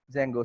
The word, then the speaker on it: Django: is our silent in our while we are pronouncing this name. So the name as a Django.